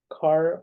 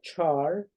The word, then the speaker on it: char: In brief, we say char or char, whatever you pronounce, both are correct.